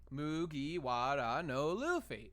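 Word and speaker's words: 麦わらのルフィ: This is how you know, and it's pronounced Mugiwara no Luffy.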